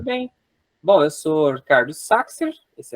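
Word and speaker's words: Sachsir: Tive que ir para a Alemanha para aprender que meu nome a vida inteira foi pronunciado de maneira errada, mas vou continuar aqui com o Saxer, né, para manter as tradições do meu pai.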